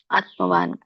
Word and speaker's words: ಆತ್ಮವಾನ್: ಎಳಿಬೇಕು ನಿರ್ಯೋಗ ಕ್ಷೇಮ ಆತ್ಮವಾನ್ ನ ವ್ಯಂಜನ ಇರೋದ್ರಿಂದ ಅಲ್ಪವಾಗಿ ನಾವು ನ ಉಚ್ಚರಿಸಬೇಕು ಆತ್ಮವಾನ್ ಸೋ ಇಲ್ಲಿ ಬಿಡಿಸಿ ಹೇಳೋದಾದ್ರೆ